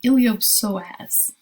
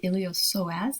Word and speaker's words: iliopsoas: joint sartorius next an iliopsoas p is silent iliopsoas and this really is